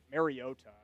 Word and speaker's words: Mariota: When I was going down the list of guys that could potentially do some fill-in work, Marcus Mariota or Mariota, excuse me, kind of corrected his pronunciation on a broadcast pretty recently.